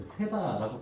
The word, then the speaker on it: 시바: 이 시바, 다른 발음으로는 세바라고 불리기도 합니다. 아무튼 이 시바는요, 원래 사울 왕의 집을 섬기던 종이었습니다.